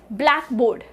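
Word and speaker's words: blackboard: D next van इसे ब्लैक बोर्ड ब्लैक बोर्ड सो बी एल ए सी के ब्लैक बीच में थोड़ा जोर उसके बाद बोर्ड now when on syllable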